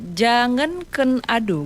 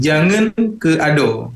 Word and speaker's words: Jangan Ke Ado: Judulnya Jangan Ken Ado, bener nggak? Ya, ya lebih tepatnya gini pengucapannya, jangan ke ado.